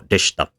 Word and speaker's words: deshita: For example, des, for example, or deshta. In both cases, the e and u in desu and deshita have been reduced away, and the amount of syllables has collapsed.